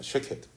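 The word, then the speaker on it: שָׁקֵד: 쉐케드. 그런데 이 쉐케드라고 하는 단어의 발음과 아주 흡사한 히브리어가 하나 더 있습니다. 쇼케드라고 하는 단어인데요. 쉐케드, 쇼케드 비슷하죠.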